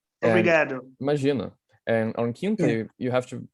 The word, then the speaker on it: quinta: And on quinta, you have to I think it's important to notice the nasal sound. Quinta.